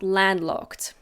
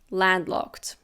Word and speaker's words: landlocked: Coastline now we have landlocked landlocked again we don't pronounce the d in the middle very clearly landlocked this is an adjective